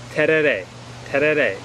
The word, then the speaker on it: tereré: about something called Ted it's a little bit difficult to pronounce but let's try that again t t it's spelled t e r e r e and it's